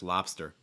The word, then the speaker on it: lobster: to stress lobster okay lobster this is another case too where that o is going to make an ah sound it's like la la lobster notice that consonant cluster there too right you get the b the s and the t don't insert any vowel sounds in between that okay it's like lobster lobster lobster and also make sure that last r is strong enough again roll like we